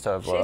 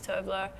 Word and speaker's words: Tove Lo: How do you pronounce Tove Lo? Well, she says Tove Lo. She says Tove Lo.